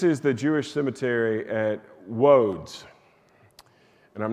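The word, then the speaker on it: Łódź: And I'm not pronouncing that correctly, but it's spelled Lodz, and it's got that little slash mark through it, and that little slash mark means it's more of a W sound than an L sound.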